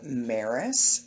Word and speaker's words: Mares: good morning good morning my name is maris and that rhymes with paris by the way and